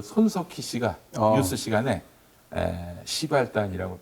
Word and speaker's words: 십알단: 근데 이제 손석희 씨가 시발단이라고 하면 좀 아무래도 좀 듣기가 좀 발음이. 그래서 예, 예. 10알단이라고 하더라고요. 아, 10알단. 네, 그러나 시발단이 맞습니다.